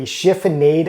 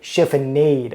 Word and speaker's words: chiffonade: If you've ever read a recipe that's called for a chiffonade of herbs and wondered what the heck does that mean, well, after this video, you will know.